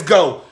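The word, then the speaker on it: Geaux: Go is spelled G-O.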